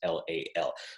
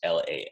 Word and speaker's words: Lal: my last name is Lal so if people have trouble pronouncing that that's loud just like pal like you're my friend you're my pal but just Lal ow all right so